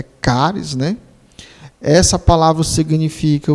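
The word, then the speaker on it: χάρις: charis, que na realidade a pronúncia não é charis, a pronúncia é caris, né?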